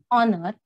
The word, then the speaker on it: honor: Honorable, honor, we are pronouncing it as a honor or honorable, not honorable or honor.